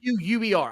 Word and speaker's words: Vaquer: I can't say mispronouncing Spanish name. Well, actually, she's Chilean. She's Chilean. V-A-Q-U-E-R.